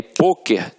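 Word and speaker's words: pôquer: isso ela é acentuada só que aí poker tem uma pronúncia fechada e eleva o acento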